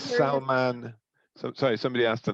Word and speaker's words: Salman: great dinner oh someone's asked the name it's salman sorry somebody asked the name for the culture salman s-a-l-m-a-n-n hectar a-k-h-t-a-r and he said for the first